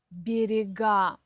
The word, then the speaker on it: берега: Например, в форме множественного числа часто переходит ударение на окончание. Видите, я хотела сказать раньше, чем подумала. Например, город, города, берег, берега.